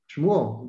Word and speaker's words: Shmuel: Shmuel, that's the Hebrew for Samuel.